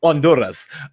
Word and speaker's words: Honduras: They said, "Party, the H is silent." Honduras. So, okay, Honduras, Guatemala, Costa Rica, and